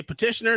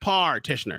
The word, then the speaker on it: petitioner: Say petitioner, not partitioner.